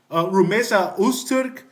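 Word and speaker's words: Rümeysa Öztürk: I've done one on Rumesa Usturk.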